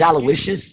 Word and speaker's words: Aloysius: But regardless, that's the correct pronunciation. So his name is Aloysius?